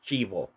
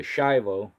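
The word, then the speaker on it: chivo: It's actually pronounced chbo, which means goat.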